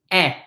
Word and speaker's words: ai: Okay, so AI, anytime you see an AI, it is pronounced eh, eh, eh. It is the same as the E in the word let, eh.